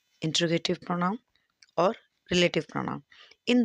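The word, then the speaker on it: interrogative: ये होता है जो प्रोनाउन क्वेश्चन पूछने का काम करते हैं, वो आपके इंटेरोगेटिव प्रोनाउन होते हैं। इसकी प्रोनाउंसिएशन इंटेरोगेटिव ना होके इंट्रोगेटिव होती है।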